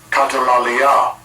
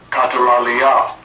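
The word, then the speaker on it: καταλαλιά: And the Greek word there is pronounced as such. Strong's G 2636. Katalalia. Katalalia.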